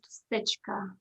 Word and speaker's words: Dusichka: a difficult last name the correct way to pronounce it is stitch thanks for asking awesome